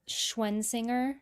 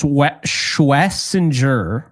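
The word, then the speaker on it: Schwesinger: Schwensinger? Like So Schwensinger? apparently it's Schwessinger, but I can never say that without slowing it down.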